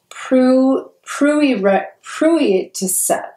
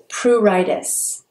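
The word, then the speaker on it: pruritus: this right but uh Pruitt to set no pruritis pretty sure that's how it is p r u r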